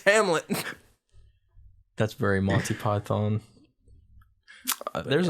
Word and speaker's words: Hamlet: They'd be like, "Oh, all right, Helmet," and I'd be like, "It's not. It's Hamlet."